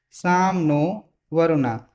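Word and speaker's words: शं नो वरुणः: The emblem of the Indian Navy contains the motto Sam no Varuna, pronounced as Sam no Varuna, which means be auspicious to us.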